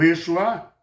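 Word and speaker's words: ישוע: O Yeshua, tá?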